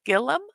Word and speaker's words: Gillum: twitch and it's Amanda Gillum spelled like Will William but with a G presentent so that is